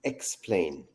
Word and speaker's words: aiXplain: we actually pronounce it x plane like explaining things yes exactly and the